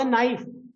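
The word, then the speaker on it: knife: य talk about the नाइफ व्ट इ the spelling of नाइफ के जैसे नाइफ में के नॉलेज में के ये सारे साइलेंट लेटर है इन द सेम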